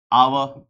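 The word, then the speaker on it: hour: आवर etcetera ये सारे ऐसे वर्ड्स हैं जिसमें सब में एच का क्या है? साइलेंट है। जैसे हस्बैंड में एच होता है ना तो एच यहां पे क्या है सर आपका? सबका साइलेंट है।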